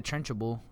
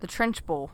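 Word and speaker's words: Trunchbull: like the trenchable. The trenchable? Trenchable? It's not that many syllables. What is it? The trench bowl.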